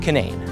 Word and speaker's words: Canaan: But since West Virginiaians tend to do things their own way, the pronunciation changed from Canaan to Canaan.